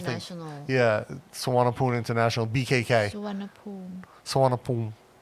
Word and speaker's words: Suvarnabhumi: Suvarnabhumi. Or if you pronounce it as it's spelled, Suwumi Boomi. No.